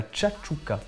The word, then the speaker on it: tchatchouka: on l'a monté chouchouka, mais en vrai ça ne se dit pas du tout chouchouka, c'est de la tchatchouka.